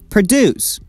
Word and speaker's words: produce: we pronounce it like produce produce we stress the second syllable produce produce means to